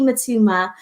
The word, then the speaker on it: Mutuma: i am honored to introduce you to matuma um have i pronounced your what your surname right first